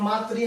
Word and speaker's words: मातृ: जैसे मातृ, कोई तो उच्चारण भी गलत करता है इसका, ये मातृ है भाई, ये री की मात्रा लगी तो पे, तो त्री बन गया हो, तो ये बन जाएगा मातृ।